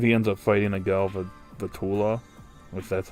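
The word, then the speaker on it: Galvantula: Um I believe he ends up fighting a Galva Vula, which that's how you pronounce the Pokemon name.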